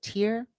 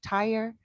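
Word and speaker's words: Tyre: It's t y re and they they some people pronounce it tier, some people pronounce it ty, I pronounce it tyrie and I was pregnant during Easter time.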